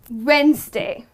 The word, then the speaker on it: Wednesday: Monday Tuesday Wednesday well don't go with the spelling this is the spelling of the word Wednesday however the way you pronounce this is Wednesday okay so when you ask the question when ok that's how it's pronounced Wednesday and not read nice day all right let's move